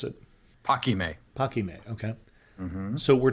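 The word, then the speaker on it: Paquimé: archaeological zone at, I'm going to let you pronounce it. Paquime.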